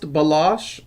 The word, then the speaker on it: Balash: Yeah, it's pronounced Balash. I know the way it's written doesn't come out quite that way.